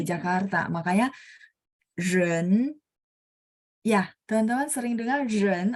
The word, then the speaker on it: 人: Jadi bacanya ren, lidahnya diangkat. Ren ya, ren.